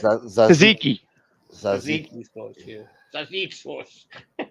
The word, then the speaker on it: tzatziki: Oh, the Takichi sauce over there. What is it? How do you say it? Tzatziki.